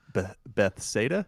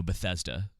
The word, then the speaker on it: Bethesda: uh Starfield is bessetta's Beth SATA is that how you pronounce it no Bethesda Bethesda okay um their lowest